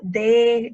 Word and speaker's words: the: For example, the dog, the cats, the something. Right. The. So TH again, right? The. Yeah. This is the voiced one, right?